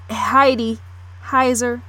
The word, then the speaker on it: Heidi Heiser: Now, Heidi Heiser is how I say it, pronounce it right, the woman I spoke on near the opening.